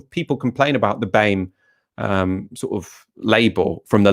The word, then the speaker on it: BAME: Well, I've been pronouncing it BAME all this time, like Lammy.